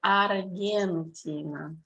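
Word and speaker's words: Аргентина: Yes, in Russian it's pronounced like Argentina.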